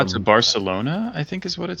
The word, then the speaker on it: Barcelona: if in Colombia like whether that town is pronounced Barcelona or Barcelona. Like it should it should be Barcelona. Yeah, the the th is only um Spain where they say Barcelona and and even the thing with that is